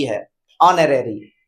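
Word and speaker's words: honorary: यहां अगर बात करेंगे तो यहां हनरी पढ़ते आप लेकिन यहां एच क्या है साइलेंट है ये न रेरी है न रेरी नहीं तो हॉनरेरी हम लोग पढ़ते हैं ये ऑरेरी है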